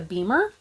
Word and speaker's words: BEMER: A friend of mine has a gadget called a beamer. I think it's spelled BEMER.